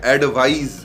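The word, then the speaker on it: advise: देखिए दोनों का प्रोनाउंसिएशन थोड़ा सा डिफरेंट है। पहले नंबर 1 पे है एडवाइस, एडवाइस, और नंबर 2 पे है एडवाइज। एक Z का हल्का साउंड आ रहा है।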